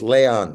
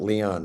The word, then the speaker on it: Leon: And Rocky Ruiro, maybe the greatest scholar I know at living says, Peter, it's Leon. It's Leon Batista. It's not Leon, man. Stop, you know, anglicizing it.